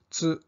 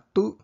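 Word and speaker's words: つ: At imbis na tu, ang meron ay tsu.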